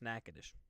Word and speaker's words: Natchitoches: it looks like this is Natchitoches but it's pronounced Natchitoches I'd rather hear my weather man from mother